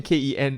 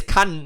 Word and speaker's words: Kan: Ken, KEN. Oh, I thought that was my surname. No, that's your name. Surname is Kan, not Ken.